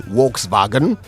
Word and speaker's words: Volkswagen: campaign and Driver a Volkswagen or let me say it properly Volkswagen Harry while stocks last